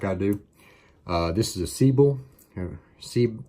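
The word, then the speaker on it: Sebile: round traps like I do this is a siebel and see see bill that's how you say it that's in a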